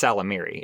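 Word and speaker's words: Ysalamiri: And in that trilogy, there were these creatures, I think it's pronounced Salamiri. It's got a Y at the beginning, but I assume it's silent.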